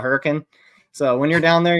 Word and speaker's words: Hurricane: know what that's about same with Hurricane Utah they call it hurricane so when you're down